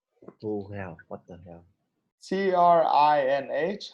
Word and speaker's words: Trinh: T-R-I-N-H. How do I pronounce it?